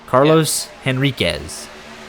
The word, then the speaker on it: Enriquez: got it that's funny Carlos henrique is the alternate pronunciation but that's not where that's not what he goes by it's Carlos henriquez and making his debut